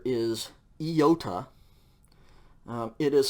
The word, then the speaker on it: iota: equivalent of i okay iota yota and um i believe the textbook gives the example uh a pronunciation example as the i in machine e machine okay iota so once